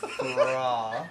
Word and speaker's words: Thra: Could you pronounce the band name correctly, Vincent? Thra.